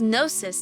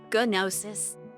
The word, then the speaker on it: gnosis: Isn't the G silent? I wish that was nosis, not gonosis.